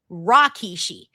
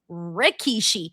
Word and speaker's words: Rikishi: JR, for the longest time, he would pronounce Rikishi as Rakishi. And so for the longest time, I would say Rakishi. And then someone was like, no, Denise, his name is Rikishi. And I was like, but bro, JR says Rakishi.